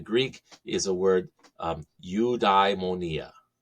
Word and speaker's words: eudaimonia: um in the Greek is a word um you diemonia eudaimonia so if we were to spell that out in English letters it would be